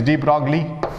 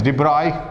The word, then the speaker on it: de Broglie: dibra de broglie wavelength some people say it is deep wrongly and some actual pronunciation is de bruy right de bruy wavelength